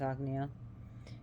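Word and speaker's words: Ajna: chakra the agnea chakra which is spelled a g and a let's pronounce agnia you put it between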